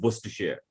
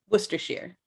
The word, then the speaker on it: Worcestershire: It's just Worcestershire. Worcestershire.